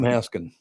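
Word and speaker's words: Haskins: Clem Haskin. He never said the S at the end of his own name.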